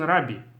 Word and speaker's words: Rabbi: so as I said in most of the commonly uh accepted tradition you call the person rabi and that's how it